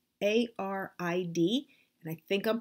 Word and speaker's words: arid: And that is a wall hanging called an arid. A-R-I-D, and I think I'm pronouncing it right. I'm pronouncing it the same way you would talk about like a desert being arid, dry.